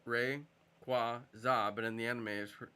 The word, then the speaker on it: Rayquaza: I thought Rayquaza's name was pronounced Rayquaza, but in the anime it's pronounced Rayquaza.